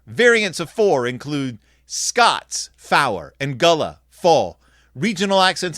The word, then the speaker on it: four: and IO radio telepon four is pronounced fow uh so so to